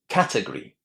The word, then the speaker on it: category: And the big question is, where do you put the stress? The first or the second syllable? Where would you put it? Listen and check. Category. Category. Where is the stress? It's the first syllable that receives the emphasis.